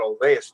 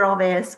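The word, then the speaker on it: Olweus: want more information about Olveus, it's spelled spell it for me. O-L. It's O-L-W-E-U-S. Yeah. Dr. Olveus was Swedish, so that W for us in the English language is a V.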